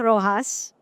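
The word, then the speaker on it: Roxas: Hi, my name's Rojas. It's spelled with an X, but we pronounce it as an H.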